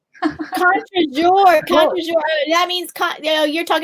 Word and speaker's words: contre-jour: Because you're not pronouncing it right. Contre-jeu. Say it again, please. Contre-jeu. That means country day. No. Contre-jour.